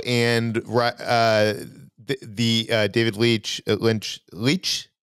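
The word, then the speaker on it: Leitch: uh the uh David Leech Lynch leech how do you pronounce it's Lee I think uh he came out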